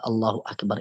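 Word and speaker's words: Allahu akbar: akbar la sya Allah kalau di dalam masalah cara baca bahasa Arab agak allahuakbar intu namanya Hamzah washol Hamzah washol Artinya kita boleh membaca putus kita boleh juga membaca sambung kalau kita putus beda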